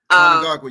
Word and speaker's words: Mnangagwa: You had an update for us about President Emerson Mnangagwa. Do I say his name right? Mnangagwa, you were close. Mnangagwa, I always say.